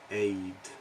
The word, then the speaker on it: aide: Aid. It's the same as, pronounced same as aid.